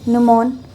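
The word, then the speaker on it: gnomon: फिर उसके बाद ये जो है इसे गमोन निमोन कहते थे। न्यूमॉन। ठीक है? और इसमें जी जो है वो साइलेंट है।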